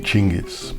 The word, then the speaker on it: Chinggis: Most people have it completely wrong. Except really it should be Chinggis, but it's a bit pretentious so I don't say it.